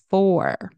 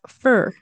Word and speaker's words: for: I'm hoping that helps next four right kind of pronounced like one two three four four separately that's how we pronounce it but in Connected speech in a sentence very often unless it's at the end it's that if it's at the end of the sentence usually we'll pronounce it as for in a sentence usually it's fur Okay I put the